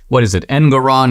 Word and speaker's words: Engoron: The judge, an extreme leftist, Engoron, is that the guy's name? It rhymes with moron.